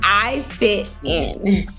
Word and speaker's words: I Fit In: for me I see it's IFI is it I fitting it's I it's I fit in I okay thank you I